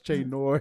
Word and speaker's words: Che Noir: She's like, no, it's Che Noir. You pronounced it wrong.